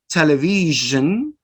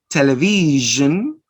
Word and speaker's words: television: It is usually spelled with the letters SI or S. For example, television, notice, television, Asia, Asia, usually, usually. And notice here that we are going to produce the sound zzz, zzz, zzz.